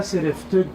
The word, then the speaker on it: Sereftug: À un moment donné, je reçois un coup de téléphone et Peter Keller me dit Attila Sereftug, parce que c'est son nom.